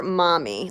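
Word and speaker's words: momme: the mm in silk stands for mommy like M om my mommy but it's spelled M om m om M II I believe and so basically it's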